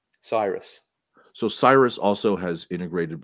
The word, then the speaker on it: Cyrus: the brits pronounce it did you pronounce it cyrus or cirrus cyrus so cyrus also has